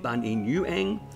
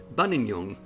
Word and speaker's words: Buninyong: to its current form thus we've had three pronunciations one being bun in yuang bananyong and bananyong and we're finally settled on bunanyong which is quite interesting